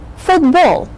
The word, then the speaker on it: football: Notice that all the games that have the ball syllable in them have the accent on that syllable. So you say basketball. You have to save your breath for the very last syllable in this word, which carries a very strong accent.